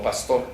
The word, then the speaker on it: Pastor: escrito por Robert Pastor, así como pastor, nada más que hay que pronunciarlo en inglés, Pastor.